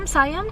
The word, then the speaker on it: Siam: Nanggaling kami sa Star of, how do you pronounce that? Siam? Yeah, Siam.